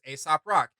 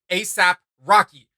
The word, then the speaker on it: Aesop Rock: everybody should check out, which is Aesop Rock, Yeah. not ASAP Rocky. Let's be clear. Oh! We're clear on Yeah, that. let me spell it out for you. It's no, seriously. It's AESOP Rock. Aesop Rock.